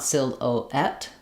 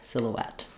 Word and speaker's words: silhouette: You won't see it in the dictionary, but you don't want sil-oet, sil-oet. That's chops up the word, isn't fluent. When we link, we naturally connect rounded vowels to unrounded vowels with a w glide, silhouette.